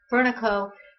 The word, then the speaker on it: Fernaco: It's Furnico with a short A and no staccato O to it. So, or staccato A.